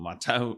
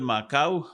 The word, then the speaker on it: makau: Well mau or matau is the subject for much of this uh episode.